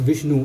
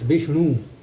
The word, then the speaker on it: Vishnu: Vishnu is, the name is also not pronounced Vishnu, it's Vishnu.